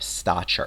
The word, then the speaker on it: stature: Stature with a ch sound. Stature.